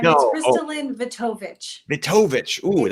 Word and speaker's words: KristaLyn Vetovich: Higher Self Expo, and I'm joined today by KristaLyn Vetovich. Did I say it right? No, not this time. It's No. Oh, KristaLyn Vetovich.